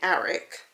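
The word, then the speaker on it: Aaric: first year is Eric it's spelled a a r i c and I'm thinking of like a Aon which is Aaron so I'm thinking Eric should be correct anyway Eric gry Castle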